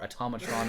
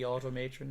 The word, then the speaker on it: Automatron: a fallout 4s a new DLC automatron or at Omicron if I was calling it but I think it might actually be automatron that I was right but well that's how